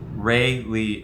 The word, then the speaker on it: Rayleigh: Ray Lee.